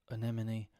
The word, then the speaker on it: anemone: one if you can if you can get through the first two syllables you're in the clear you're in the clear